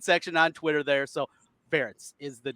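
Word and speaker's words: Ferentz: his name but yes ferrets rhymes with parents so just had to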